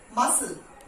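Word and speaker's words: muscle: मसल, C silent, मसल.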